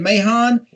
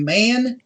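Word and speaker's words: Mahan: that one girl's name you said mayhan very well could be man with a silent h because we knew some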